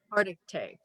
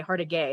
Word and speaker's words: Hargitay: Hargitay. Hargitay, I should say that right. I was going to say Hardigay, and I was like, no, that's not it.